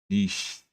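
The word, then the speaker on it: niche: It's pronounced nish nish nish.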